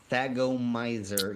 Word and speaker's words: Thagomizer: Thagomizer, even though I'm probably butchering the pronunciation of that.